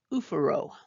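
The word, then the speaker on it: oophoro: Ovary is pronounced oophouro.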